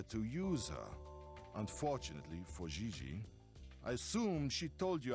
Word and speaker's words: Gigi: ling no i mean jj gg gg jj on francais you pronounce g like j and j like g she may very well be jj in america but in france she is gigi has she done modeling